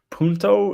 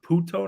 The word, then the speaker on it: puto: more like Chicano looking is punto is it is in Spanish it's puta there's no a or there's no no no puto is a guy puta is a girl yeah that's right yeah it's puto not punto because it's a [ __